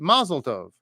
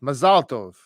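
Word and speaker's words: מזל טוב: you're speaking Hebrew that you almost always put the accent at the end of the word as an another example is the word mlov so a lot of times English speakers will say mazeltov when you're in Israel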